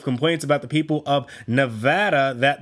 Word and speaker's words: Nevada: people of Nevada that the pronunciation of their state is in fact Nevada, not Nevada. Nevada is Spanish for snowy or snowfall, depending on if you're using it as a noun or an adjective. That is where the state's name derives from, so I don't understand why it isn't pronounced that way.